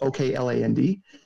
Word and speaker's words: Okland: Specifically Oakland Construction, or Auckland, I don't know how to say it, it's Okland.